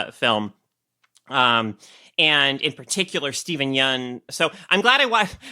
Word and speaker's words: Yeun: and is like, Steven, you're actually been pronouncing my last name wrong this whole time. It's Yeun.